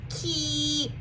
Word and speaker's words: keep: And because there's a long E, this spelling pattern is a double E. Let's say it together. Keep. I hear that P sound at the end.